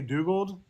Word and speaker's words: Dugald: I don't care how you pronounce it. And now it is Dugald, right? Technically, I say Dugald just because it sounds closer to his original name, which was Douglas, which I couldn't stand.